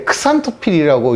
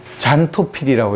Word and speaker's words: 크산토필: 마치 이게 재밌는 게, 이거랑 비슷한 게 크산토필이라고 이제 그 식물을 노랗게 만들어주는 그 색소가 있어요. 근데 이것도 요새는 잔토필이라고 읽거든요. 크산이라고 안 읽고, 이런 것처럼 이제 크세논을 이제 제논이라고 하는 거죠.